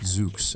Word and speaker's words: XOOX: That's pronounced XOOX in case you were wondering.